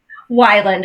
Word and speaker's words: Weiland: Wyland, and don't worry.